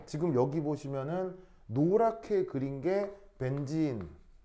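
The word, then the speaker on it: benzene: 그럼 뒤에 붙이면 벤진이 돼요. 벤진 알겠죠? 근데 이거를 콩글리시로 벤젠 이렇게 쓰는 거예요. 어, 어디서 들어온 발음이겠어요? 일본. 알겠죠? 일본을 통해 들어온 발음이 벤젠이에. 벤젠은 근데 일본식 콩글리시 발음이고요. 영어 표현은 벤진.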